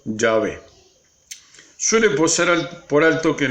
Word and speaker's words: Yahvé: Los eruditos han llegado al acuerdo general de que la pronunciación original debe haber sido Yahvé.